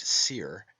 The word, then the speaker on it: soir: Therefore we have the heavenly wolf Osiris, meaning the high eastern sun, from os, high, and soir, pronounced seer, and meaning east, hence the morning sun.